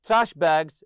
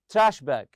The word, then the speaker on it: trash bag: The first one, throw a couple of trash bags in your backpack for dirty laundry. So we have here trash bag, trash bag. You put the stress on the first part.